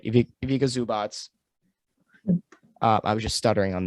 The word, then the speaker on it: Ivica Zubac: Ivica Zubac.